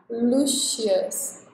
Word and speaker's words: Lucius: Então, a diferença que eu fiz na pronúncia foi fazer o mais marcado. Lucius. Para não pegar o wishes.